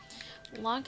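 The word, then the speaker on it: Lönk: Lonk is pronounced with the vowel sound in her, if you know what I mean.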